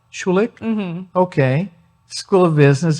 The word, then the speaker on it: Schulich: and I think I'm going to have trouble pronouncing the name of your school. Schulich. Schulich?